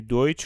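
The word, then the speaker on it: Deutsch: اگر ای و یو پشت سر هم اومدن صدای اوی میره توی آلمانی. برای همین ما اینو این کلمه دویچ رو ولشه دویچ نامن دوی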